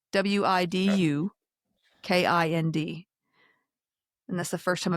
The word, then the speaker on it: Widukind: It's Widukind.